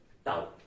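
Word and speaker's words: tau: गर्दिशा torque, जैसे अलामत टाउ से जाहिर किया जाता है, इसका ये ग्रीक लेटर है, इसका प्रोनाउंसिएशन जो है इस तरह से किया जाता है टाउ।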